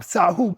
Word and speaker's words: sahu: Now, let's take about 3 to 4 minutes and come down into our um sahu pose.